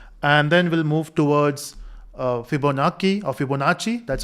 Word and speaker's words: Fibonacci: help of factorial, and then we'll move towards Fibonacci, that's how you pronounce, and then we'll focus on memoization.